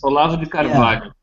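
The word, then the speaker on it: Olavo de Carvalho: Olavo di Carvalho, I think is how you pronounce his name. Yeah. Are you right on chat? What is that? Are you right? Wait. It's Olavo di Carvalho.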